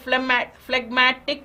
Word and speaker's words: phlegmatic: Phlegm is a medical term, but phlegmatic, where the G is in fact pronounced, means something else.